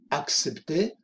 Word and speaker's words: accepter: Accepter ou refuser une invitation. Accepter une invitation, refuser une invitation. Aceptar, fijaros, doble C, KS. Accepter, accepter, la P también se pronuncia, accepter, accepter ou refuser, refuser une invitation.